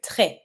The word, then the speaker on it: très: If I want to say very, I'm going to say très. I don't pronounce my S, and you see that on that E, I have a low accent, so I'm going to say très.